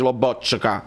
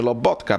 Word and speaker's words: Lobotka: Ecco, in questi giorni abbiamo visto l'intervista a Lobotka, non si dice Lobotka, si dice Lobotka perché lo dice lui stesso, quindi Bobotta lo possiamo